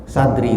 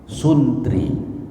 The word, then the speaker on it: santri: Santri itu dari dua kata, satu bahasa Arab, satu lagi bahasa Sanskerta. San sebetulnya asalnya bukan san tapi sun, suntri, tapi dalam perkembangannya diucapkan santri.